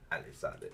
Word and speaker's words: Elizalde: Elizalde.